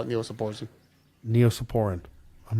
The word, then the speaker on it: Neosporin: weird hwen ipren yeah my wife mispronounces words all the time all the time she said what the what's that Neosporin oh neopor yeah she calls it that I know how many